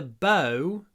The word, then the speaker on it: bow: So, same spelling, different pronunciation.